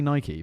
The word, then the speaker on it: Nike: Nike, but it is Nike, you know, because it was named after the temple of Nike. I do know that. And So we get it wrong, and- but I can't say Nike because then everyone in